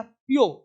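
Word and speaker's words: pure: T duty यह क्यों यह प्योर प्योर प्योर बोलते हैं प्योर यहां आर को बोलेंगे आधा इस आर का उच्चारण आधा प्योर ठीक है ना इस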